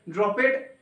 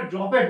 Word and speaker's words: dropped: এবার অনেকে উচ্চারণ করবে ড্রপেড বলে, এটাকে আমিও করতাম, আমার ক্ষেত্রে হতো এটা, আমি এটাকে ড্রপেড করে দিতাম, কিন্তু পরে দেখলাম এটাকে ড্রপড বলা হয়। অ্যাকচুয়ালি ড্রপ উচ্চারণ, ড্রপ থেকে ইডি আসছে, ড্রপড হয়ে যাচ্ছে।